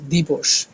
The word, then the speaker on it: দিবস: শব্দের প্রমিত উচ্চারণ করতে দিবস এখানে স আমরা উচ্চারণে শিখেছিলাম যে দন্তস কিন্তু কি হয়ে যায় মানে এই স কিন্তু এই স হয়ে যায় দিবস তার বিগ্রহ বাক্যের অপর